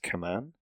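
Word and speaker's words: camán: The blow given by a hurler to the ball with his, I think it's pronounced kaman, is always called a puck.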